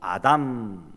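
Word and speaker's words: אדם: 사람을 만들고 라고 있는데 여기 사람 이란 말은 히브리어 발음으로 아담 아담 입니다 그러니까 하나님이 아다마 하신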